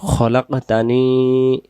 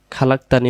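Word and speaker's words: خلقتني: রাব্বি পড়বেন না তারপরে খলাকতানি খালাকতানি হবে না উচ্চারণ হবে খলাকতানি ওনা আবদুকা ওনা আবুদুকা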